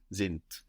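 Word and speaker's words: sind: zint zint good and it's spelled s n d and again we have the hard version of the D sounding like a t zint how was the word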